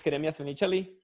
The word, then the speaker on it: Jeremias Menichelli: My name is Jeremias Menichelli. It's pronounced like that and written like that because I'm originally from Argentina, as Danny and Alex mentioned.